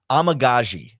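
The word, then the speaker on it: Amegadjie: But give me the pronunciation. Yeah, Amagaji. Yes, if Amagaji's out there again, I mean, that poor guy.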